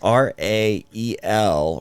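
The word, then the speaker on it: Raël: me more um raelism it's r a e l Rael and when an e has a two dots over it it's another syllable uh so it's re ra Rael Rael okay um raelism raelism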